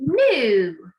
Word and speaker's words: knew: yesterday, it would be knew. And it's new with our silent K, okay? So just like no has got a silent letter K there, so no, new has also got the silent letter K.